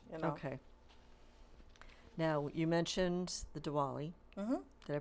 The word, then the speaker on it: Diwali: Now you mentioned the Diwali. Did I pronounce that right? Diwali, yeah.